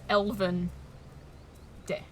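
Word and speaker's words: Elvendë: But it literally just means remember to pronounce. It doesn't actually change the pronunciation of the E.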